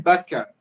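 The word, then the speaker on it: בָּכָא: del lloro las lágrimas pero la pronunciación es vaca es lo mismo lo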